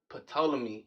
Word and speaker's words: Ptolemy: us to focus on Ptolemy, right? Ptolemy. And the P is silent.